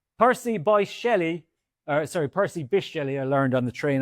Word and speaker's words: Percy Bysshe Shelley: Percy Bysshe Shelley or sorry, Percy Bysshe Shelley, I learned on the train on the way down is how to pronounce that, runs a lucrative side hustle selling knives to teenagers on Snapchat.